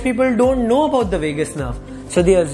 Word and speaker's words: vagus nerve: Out of which the ninth number cranial nerve is called the vagus nerve. Similar to last Vegas, but it's spelled differently.